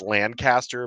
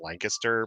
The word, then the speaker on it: Lancaster: in Lancaster Pennsylvania I used to call it land Caster but it's actually pronounced Lancaster my my wife uh kind of corrected me